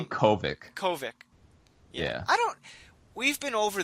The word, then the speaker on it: Kovic: Very, very enjoyable, and I thought Dave Crock would be a... Korvic. Why do I keep saying Crock? I see Kovic.